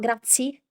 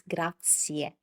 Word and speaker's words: grazie: It's not grazi, it's grazie. Can you see that we're also applying what we just learned with the first pattern, consecutive vowels? We have i e, and you need to pronounce both of them.